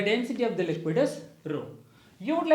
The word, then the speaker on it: rho: and volume so the density is referred by the letter greek alphabet rho it's kind of p so we will pronounce this as rho so the density into